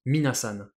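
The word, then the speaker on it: みなさん: il transformation de compensation ça se prononce mine à san pour dire comme ça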